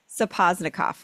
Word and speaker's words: Sapozhnikoff: Lena Sapozhnikoff, right?